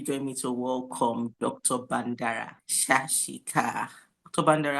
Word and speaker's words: Bandara Shashika: I hope I pronounced your name perfectly. Yeah, you got it right.